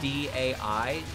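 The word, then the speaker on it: Daiyousei: I know it's Dayose. Dayose? Oh, that was a fucking awful guy. Because it's Daiyossei. So there's no, if it's Dayu, it can't be.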